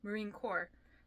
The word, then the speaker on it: Marine Corps: Marine cores Marine Corp I learned the S is not pronounced today Marine Corps it's weird English is